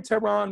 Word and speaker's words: Tehran: the concept i am tehran my name is tehran like the capital of iran i am t-e-h-r-a-n if